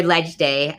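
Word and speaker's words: Leg Day: I'd gone to my first legislative day, or Ledge Day, as people in the know call it. But you spell it Leg, but pronounce it Ledge, which is always confusing to me.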